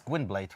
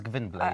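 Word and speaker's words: Gwynbleidd: kind of challenging so the pronunciation like gwynblade google and blade it sometimes can differ depending on the language yeah i think in english it's quinblade right in in polish it's given black i think so yeah yeah but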